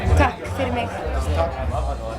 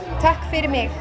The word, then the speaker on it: Takk fyrir mig: Takk fyrir mig. Fyrir mig. We say thank you for me. So it's tak Very ego language. Takk fyrir mig.